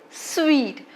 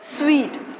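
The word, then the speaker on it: suite: in my list is sweet we usually get confused about hotel room which is called sweet look here spelling is very different from the pronunciation it is called sweet like i want to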